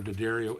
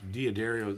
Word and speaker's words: D'Addario: bronze so that tells you something right that's diaderio that's i always say i i always pronounce that word both ways i have my whole life but well everybody used to say daddario yeah but that's what it's supposed to be